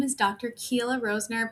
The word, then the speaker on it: Keila: Keila Roesner, pronounced Keila like tequila, and I have a midlife women's health focused practice.